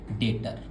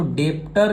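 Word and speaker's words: debtor: आइए आराम से आप पहले आप लिखिए डेटर। भैया ये तो डेप्टर लिखा हुआ है भैया। नहीं बच्चा वो बी जो है वो साइलेंट है सर।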